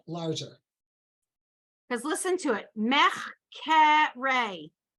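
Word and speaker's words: מחקרי: Mechkere. It's in the middle of the word, but they want you to pronounce it.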